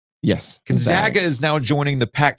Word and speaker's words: Gonzaga: is now joining I said it right right Gonzaga yes Gonzaga is now joining the Pack 12 as a